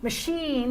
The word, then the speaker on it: machine: So when I get to E, machine, I'm stressing this vowel, which is a pure sound, pure vowel, but the schwa is reduced.